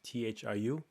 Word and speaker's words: Thiu: my name, which is Thiu. So people call me Thiu. So I usually tell people to think of Matthew and don't say Matt. Okay, so Thiu. So that's how my name is pronounced.